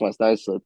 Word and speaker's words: Islip: It's actually pronounced West Islip, but West sorry Islip.